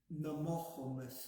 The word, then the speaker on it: Namohomus: Namohomus. And we can sound this out 1 syllable at a time.